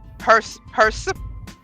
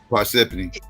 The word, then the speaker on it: Parsippany: You know I don't know how to pronounce this shit. It's called Persephone or something like that. New Jersey. Parsippany.